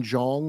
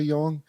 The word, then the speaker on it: Jong: poet named uh Susan Jong or something Jong y it's pronounced Yong okay she's famous her